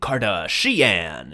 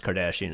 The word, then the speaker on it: Kardashian: recognize that from now the lazy thing is to have them mispronounce the name of the famous person like ah it seems that though these primitive people worship someone named Kim kardashan it's like no if they're still talking English in the future you would be able to pronounce Kardashian on your first try you would um there